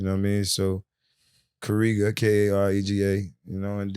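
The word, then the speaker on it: Karega: wasn't too crazy um my first name is kariga spell it k-a-r-e-g-a what i'm saying in this african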